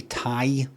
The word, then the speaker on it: Ti: because I splashed out a fortune a few years ago on a 4070 Tai that's that's how you pronounce it RTX graphical card for you so